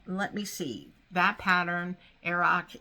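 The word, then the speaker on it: Earrach: That pattern, Aroc, it's E-A-R-R-A-C-H, and I believe I'm pronouncing it right.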